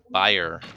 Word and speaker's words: Bayer: aspirin here but it's you guys say it like buyer correct like an e sound buyer Bayer we use the a in the middle it's buyer yeah we I only